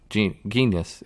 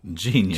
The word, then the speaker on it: genus: And genus, what is it? Genius. Genus. It's not genius. Genus.